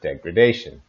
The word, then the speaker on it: degradation: worse in the noun degradation for pronunciation keep in mind here degrade and degradation so the stress changes for these words Japan a 647 some